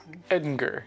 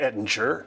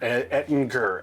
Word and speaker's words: Ettinger: Ettinger. Yeah, it's a hard G. Not Ettinger. Ettinger.